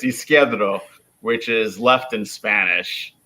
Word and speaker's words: Isquierdo: Oh, well, and as my grammar rolls over, I can't pronounce it either correctly. So it's Isquierdo, which is left in Spanish.